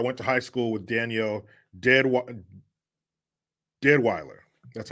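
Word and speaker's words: Danielle Deadwyler: Hughes says, I went to high school with Danielle Deadweiler.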